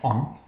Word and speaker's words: On: of the devil which is own in Egypt pronounced on and uh it was Joseph who today is